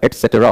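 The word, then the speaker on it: et cetera: बहुत सारे लोग एक्सेट्रा बोलते हैं, एक्सेट्रा नहीं होता, एटसेट्रा प्रोनाउंसिएशन है, ईटी सीईटी एटसेट्रा।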